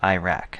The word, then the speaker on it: IRAC: organized with a common legal writing tool called Iraq that's spelled i a c Iraq is an acronym